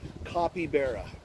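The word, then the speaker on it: capybara: Right pronunciation is copybeara. Copybeara.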